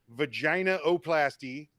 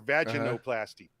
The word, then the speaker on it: vaginoplasty: There's two correct pronunciations for this. It's either vaginaoplasty or vaginoplasty. So you must say you've dropped a couple syllables out of there.